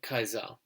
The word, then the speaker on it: Caesar: russian words are or it's kind of like um the latin name caesar so kaiser would be how we pronounce it in actual latin so i think it's